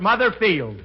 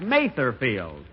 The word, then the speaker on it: Mather Field: here it is Mother's Day and we're at mother Fields that's uh that's Mather field and although I pronounced it wrong last week I and speaking